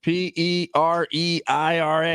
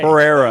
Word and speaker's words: Pereira: is it right here spell it yeah yeah p e r e i r a Pereira yeah Pereira yeah yeah yeah yeah